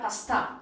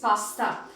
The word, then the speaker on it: pasta: It is not pasta. Alright, it is pasta. And this comes from the Italian language, which means food items